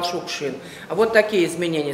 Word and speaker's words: Шукшин: на фамилию отца, и фамилия у нас произносилась Шукшин, с ударением на первое слово. И только потом уже в Москве, когда стал публиковаться, сниматься в фильмах, вот там Москва поправляет ударение, он стал Шукшин.